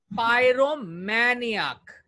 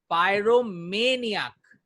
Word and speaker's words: pyromaniac: पायरोमे में ज्यादा strongest accent होगा आपका। पायरोमेनियक, इट्स पायरोमेनियक, इट्स नॉट मै, इट्स मे। दिमाग में रखना, इट्स मे महीना होता है ना, वो वाला मे।